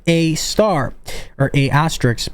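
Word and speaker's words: A*: standard algorithm to perform this is called AAR pronounced AAR or a asteris pronounced AAR and Reuters has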